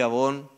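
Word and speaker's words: עוון: Iniquidad en hebreo se escribe a von o Avon en inglés. No creo que sea coincidencia, pero abón significa eh todo lo que debiendo estar derecho sea torcido.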